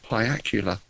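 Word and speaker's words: piacular: miscreants had lay their pyacular necks there's a word I missed play Acula I have to check that one rhymes with Dracula foreign we heard an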